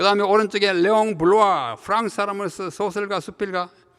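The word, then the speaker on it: Bloy: 그 다음 두 번째는 레옹 블로아, 영어로는 블로이지만 이게 블라는 사람이니까 블로아 이렇게 읽어야 맞습니다.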